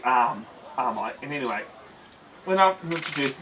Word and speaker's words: Arai: May Maya Marshall arai everyone pronounces it am I when it is actually arm AR I and anyway when I've